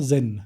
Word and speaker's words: Zen: अब ये चान मेडिटेशन का प्रैक्टिस चाइना से जापान गया और चान का उधर zen बन गया। प्रोनाउंसिएशन हुआ जेन।